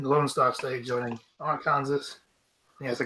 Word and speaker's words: Arkansas: In the Lone Star State joining Arkansas. Yes, they call it Arkansas. Arkansas. That's Arkansas. Oh, Arkansas, shit. why Kansas spelled like that?